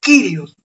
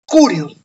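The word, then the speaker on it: κύριος: de griego que eh la consonante upsilon Perdón la vocal upsilon puede pronunciarse u o I ent Por eso hay autores que pronuncian kirios y otros pronuncian curios e está bien las dos formas entonces el término curios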